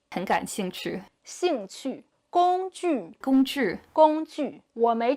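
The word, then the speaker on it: 兴趣: Her 'j/q/x' sounds are great when followed by an 'i', but when followed by a 'u' sound, they sound a bit more like 'zhu/chu/shu.' 'Xingchu.' (Oriental Pearl speaking Chinese) 'Xing qu.'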